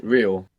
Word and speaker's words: real: legally illegally illegal meant how do you think you say real in Spanish real real like Real Madrid real real good when we have an r at the beginning you might hear it like rolling a real how do you think